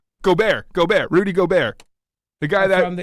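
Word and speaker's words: Gobert: which is which is amazing, is that um Goober, is that how you say his name? Is it Goobert? Goar. Go. Rudy Gobear.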